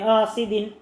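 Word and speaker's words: حسد: മദ്രസയിൽ വായിക്കുന്നത് വമിൻ ശർരി ഹാസിദിൻ, ആയല്ല ഹായാണ്, വാ തുറന്ന് പറയണം, വാ തുറന്ന് പറയണം, ഹാസിദിൻ, വമിൻ ശർരി ഹാസിദിൻ ഇദാ ഹസദ്, ഇദാ ഹസദ്, അസദ് അല്ല, അസദ് എന്ന് പറഞ്ഞാൽ സിംഹമാണ്, ഹസദ് എന്ന് പറഞ്ഞാൽ അസൂയ. അപ്പോൾ അസൂയ എന്ന് പറയുന്നിടത്ത് സിംഹം എന്നർത്ഥം വരും.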